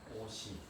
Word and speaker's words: 옷이: 옷이. 오시라고 발음해.